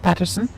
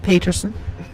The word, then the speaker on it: Paterson: house paterson new jersey is that how it's pronounced paterson not peterson but americans will never know their pronunciation i